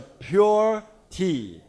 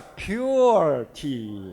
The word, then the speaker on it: Pu'er: In typical Chinese pronunciation, Mandarin pronunciation, it's called Puer Tea. But with your typical intonation, it may become a Puer Tea. So I suggested to the company, don't say Puer Tea. It will sound like a Puer Tea. So say it like a Pure Tea.